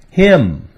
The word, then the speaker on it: hymn: N is a silent letter when it comes after the letter M, as in these examples. Autumn, column, solemn, and hymn.